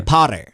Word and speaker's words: Potter: Oh, by the way, how do you pronounce Harry Potter? I sound more like an American. Potter. Yeah, that's American. Potter. Potter. Potter. Potter Potter. So those T's in the middle of a word, Americans will tend to do it.